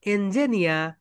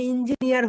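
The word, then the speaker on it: engineer: এই তো দেখে এখানে রয়েছে এঞ্জেনিয়া, এঞ্জেনিয়া। এই কারণে আমরা এখানে অ্যান ব্যবহার করেছি। ওকে, অনেকেই নিজেকে বলে আমি ইঞ্জিনিয়ার হয়ে গিয়েছি। So that's wrong.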